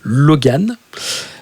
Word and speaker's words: L0G4N: Et depuis maintenant 3 ans, j'ai monté un projet solo qui s'appelle, attention, un nom incroyable, Logan, qui s'écrit L0G4N, qui est trouvable d'ailleurs sur Spotify,